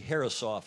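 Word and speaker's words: Herreshoff: awarded the harrish off trophy then nathaniel g harrisoff is the proper pronunciation at the u.s sailing bill dana you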